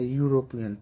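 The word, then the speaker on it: European: ए मायने यूरोपियन, यूरोपियन, यू आ रहा है, हम लोग देखे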